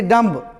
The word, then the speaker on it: dumb: जैसे देखोगे DUMB एम के बाद आया, डम बोलेंगे, ये नहीं डम्ब, डम्ब पढ़ लेते हैं अपने लोग, नहीं डम।